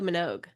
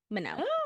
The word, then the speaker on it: Minogue: Yeah, and I've really been missing out on Kylie Minogue.